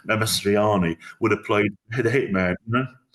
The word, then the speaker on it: Mastroianni: And Marcino Marcelloni, well, I've said it wrong, Mastroianni, would have played the hitman, always the guy who Amadou was always going to play the terrorist.